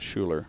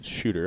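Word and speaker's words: Shuter: a third year yeah it's actually shooter not Schuler those are T's shooter I knew I pronounced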